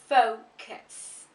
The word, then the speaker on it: focus: The correct pronunciation for this word is focus. Focus. What you will see with speakers of different languages is that some of them pronounce it as focus. That's very common with speakers of French. And you will also see other people saying focus.